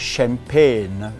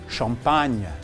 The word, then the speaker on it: champagne: But in French, since this is a French word, we should learn to pronounce it the French way. So this is called champagne in French. Champagne. Okay? So next time when you order a bottle, you order a bottle of champagne.